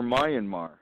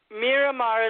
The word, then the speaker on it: Myanmar: Miramar or Myanmar? Miramar is how they pronounce it. There is an N in it, though.